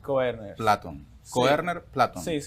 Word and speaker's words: Koerner: Ok, pero se pronuncia así tu apellido. Koerner Sí, Koerner.